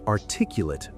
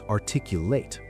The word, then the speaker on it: articulate: It's articulate as an adjective, stress on the second syllable. As a verb, it's articulate.